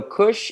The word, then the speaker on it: Kush: can see it here so kush is the name of a sparkling winery and it's the first syllable of the winemaker's last name it's a gentleman named